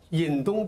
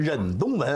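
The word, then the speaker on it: 忍冬纹: 引东就是金银花，忍东纹啊，忍不是引，是忍。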